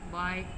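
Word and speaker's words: bike: For example in lamb and बाइक the letter B, इसमें B silent है और इसमें ई साइलेंट है।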